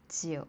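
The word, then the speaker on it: 酒: It has the same pronunciation as uh the number nine.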